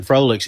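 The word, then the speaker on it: Froelich: I love Mason Froelic's energy. Yeah, Frolic is Frolic. I say it wrong every time.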